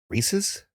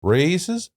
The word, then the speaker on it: Reese's: Reese's? Races?